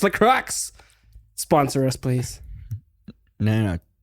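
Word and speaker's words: La Croix: no no no no the Crux okay it's l Crux sponsor us please no no too Chico sponsor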